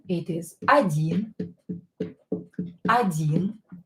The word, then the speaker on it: один: Or when it's not stressed, pronounce it as a. Один.